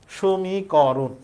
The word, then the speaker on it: সমীকরণ: সমিককরণ না সমিক রন আমরা যেমনে বলি সেমনে উচ্চারণ তাহলে উত্তর হইতেছে সমীকরণ এরপরে এইযে ম এর সাথে ই আছে।